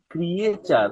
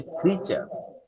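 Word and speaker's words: creature: এই শব্দটার উচ্চারণ ক্রিয়েচার না, এটার উচ্চারণ হচ্ছে ক্রিচার, ক্রিচার।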